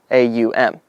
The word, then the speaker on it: Aum: When the word is said properly and correctly, all the syllables can be said. Aum. That's my attempt at it. If I did it wrong, sue me.